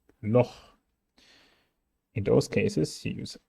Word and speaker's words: Loch: However, acht, Buch, Loch. In those cases, you use A, U, and O, and you have to say acht, Buch, Loch.